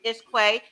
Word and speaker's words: Ish Que: So when everybody sees your name, we want them to make sure they pronounce it correctly, Ish Quay.